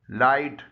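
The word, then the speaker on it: light: सही तलफ्फुज है अर्ब अगर एच किसी लफ्ज के दरमियान या आखिर में जीएच का हिस्सा हो और उससे पहले आई आया हो तो ऐसा एच खामोश यानी साइलेंट होता है जैसे लाइट इसमें एच जी एच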